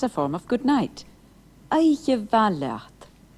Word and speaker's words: Oidhche mhath: Oidhche va leat. Did you notice the difference in pronunciation between the ma in va, ma, a fine day, and va, Oidhche va, a fine night?